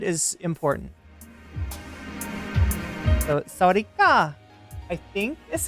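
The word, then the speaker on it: สวัสดีค่ะ: But yeah, and if you identify as female, it's sawadee ka. And I've been told that tone, the uplifting tone at the end of it, is important. So sawadee ka, I think is how you say it.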